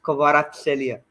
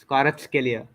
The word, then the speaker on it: Kvaratskhelia: Shit, I forget how to pronounce this guy's name every time. It's Kvaratskhelia. Kvaratskhelia.